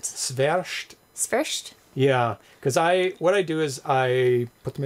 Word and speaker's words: Świerszcz: Świerszcz. Yeah, because I put them into Google, and it tells me, here's a pronunciation of it, and it's actual people pronouncing it.